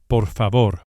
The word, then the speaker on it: por favor: Please is por favor. Por favor. Each of the final R's is lightly flipped with the very tip of the tongue, just behind and above